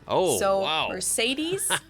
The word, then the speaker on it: Mercedes: So most Americans call this Mercedes. Right. In German, we pronounce it Mercedes. Oh, so wow. Mercedes versus Mercedes. Mercedes. So it's really pretty different.